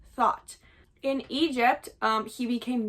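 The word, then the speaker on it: Thoth: or spelled th h o t h but pronounced thought in Egypt.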